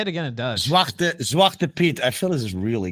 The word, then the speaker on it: Zwarte Piet: Zwarte Piet.